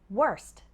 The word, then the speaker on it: worst: in the worst way what about the pronunciation of worse and worst well worse ends with a sound worse and worst ends with a sound worst however when speaking fast it's common for that final T sound to disappear so sometimes